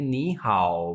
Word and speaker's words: 你好: मैंने कल रूल बताया था कि नी और हाउ दोनों पे थर्ड टोन है, तो ये टोन का रूल है। जब दो थर्ड टोन साथ आ जाएं तो फिर उनमें जो फर्स्ट टोन होती है थर्ड, उसको हम सेकंड में पढ़ते हैं और सेकंड वाले वर्ड की टोन एक्चुअल टोन जो थर्ड है उसी में प्रोनाउंस किया जाता है। इसी वजह से हम कहेंगे नी हाओ, और म ये न्यूट्रल